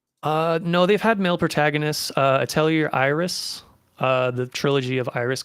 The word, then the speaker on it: Atelier: So is it Atelier? I think it's Atelier. Atelier, It's a even though it's French like ER word. at the end. Okay. Yeah. It's French. French.